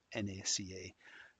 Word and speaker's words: NACA: initialization of it or the acronym NACA is intended to be pronounced NACA uh as opposed to Naka.